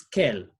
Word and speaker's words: quelle: We use quel, double L-E. But remember, I've said they're pronounced the same, okay?